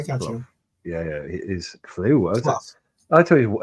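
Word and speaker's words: Clough: has Brian clue right that's how I pronounce the name c l o u g h right how many times has he won the cup as a manager uh Brian Koff KF K as if it's C uff I got you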